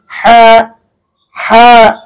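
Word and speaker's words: ح: এটা হচ্ছে কণ্ঠনালীর মধ্যখান হইতে উচ্চারণ করতে হবে, একেবারে ভিতর থেকে, একেবারে মধ্যখান হইতে হা হা, এভাবে কিন্তু আপনি উচ্চারণ করবেন।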